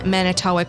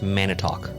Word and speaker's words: Manitowoc: to Benton Harbor okay pretty sure it's Mana talk by the way is spelled m-a-n-i I know how it's spelled Jessica w-o-c it's it's Wisconsin I'm gonna say Manitowoc numerous occurrent strange occurrences have